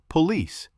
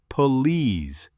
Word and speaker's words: police: Stress on the second syllable. Or police. It's police, not police.